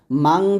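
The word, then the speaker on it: مَنْ: আপনারা অনেকে কমেন্টস করেন যে মান নাকি মাং। দেখুন এটা হচ্ছে নিয়ম অনুযায়ী, যদি নুন সেকনের পর যদি তা, সা, জিম, দালে, জালে, জা, সিন, শিন, সদ, দ, ত, জ, ফা, কফ, কাফ, এই 15টা হরফ আছে, তাহলে এখানে মাং বলতে হবে, মাং।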